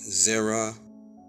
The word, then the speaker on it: zera: uh tell us and it's uh pronounced Zera in the Hebrew okay Strong's age 2233